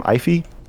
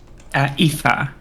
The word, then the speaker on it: Aoife: So I do have a problem with it, but I'm kind of with how do you say your name? Ify? Aoife. Aoife, sorry. With an F, yeah.